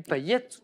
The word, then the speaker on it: Payet: Manu Payette. Enfin, on prononce Payette. à la réunionnaise, on prononce le T final, mais c'est ça.